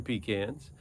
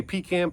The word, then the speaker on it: pecan: a large part of our economy comes from peans and a guy that likes pecan pie and